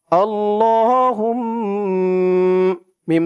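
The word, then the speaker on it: اللّٰهُمَّ: চলুন আমার সাথে বলুন, আল্লাহুম্মা। দর্শক, আমি আপনাদেরকে অক্ষরে অক্ষরে শব্দে শব্দে ভেঙে ভেঙে সঠিক উচ্চারণ করে বানান করে বলে দিব।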